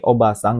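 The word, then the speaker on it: おばさん: Nomor 2, ini oba-sang, nggak ada a-nya di tengah, ini bibi. Jadi istri dari oji-sang paman itu oba-sang. Nah, oji-sang ada i-nya di tengah, ini baru kakek.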